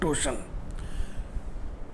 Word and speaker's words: torsion: देखो ये TORSION टॉर्सन भी बहुत लोग बोलते हैं, लेकिन इसका सही उच्चारण है टोशन। आर इसमें साइलेंट रहेगा।